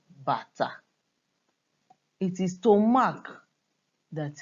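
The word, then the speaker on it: bàtá: You can see that they are spelled the same way, but this is pronounced bata, the drum.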